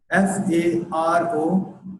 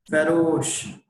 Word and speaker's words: farouche: Very first word on your screen is Farouche. I know most of you are not able to pronounce this word correctly. The exact pronunciation of this word is farouche. Farouche.